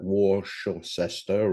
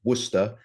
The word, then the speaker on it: Worcester: I was educated in Worcester and uh and for those Americans that might choose to pronounce that Warcester or uh or Warester or whatever, no, it's Worcester and they they actually say that in in the Boston area you have a Worcester uh there.